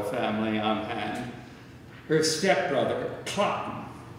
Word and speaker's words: Cloten: Unfortunately, there's another quasi-member of the royal family on hand, her stepbrother, Cotton. And that's the way it is pronounced. It rhymes with rotten.